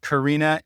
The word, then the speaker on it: carina: I've heard it pronounced carina and carina. When I was taught it, it was the carina. If you pronounce it one way or the other, you're not going to hurt my feelings.